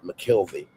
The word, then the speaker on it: McKelvey: I'm McKelvey, he adds to his real name, emphasizing the second syllable of his last name.